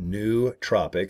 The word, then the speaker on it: nootropic: uh the New Tropics that's how he pronounced it nootropic so it's like n-o-o tropics